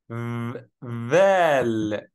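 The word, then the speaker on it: ذال: Dal has a similar one we call vel. Vel. What I did, I made my tongue out to pronounce it, and this means it's a tongue letter.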